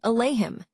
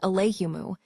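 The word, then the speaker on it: عليهم: For example, take the phrase alleim, which means on them. Some tribes would read it as alleimu adding a slight variation that made it easier for them to pronounce.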